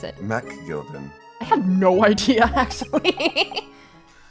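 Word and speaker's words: McGilded: make sure that when you say MC you pronounce it as Mac Al it'd be ma gilded when he says it Mac Gilden I have no idea actually thank you v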